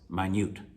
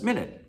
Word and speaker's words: minute: number four is eight now this is tricky if you say teacher that's minute like obun shippun ishipun no it's not minute well it's spelled the same as a minute but in the context this is why it's vocabulary in context the context here is not minute it's minut like mini like the car mini